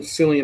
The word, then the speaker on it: Cillian: Yeah, that's Cillian because it's a Celtic name, so this he is like, just like how we Americanized the Boston Celtics.